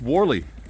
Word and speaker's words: Whalley: here at warley Abby spell Hally Hally pronounced warley there you go so uh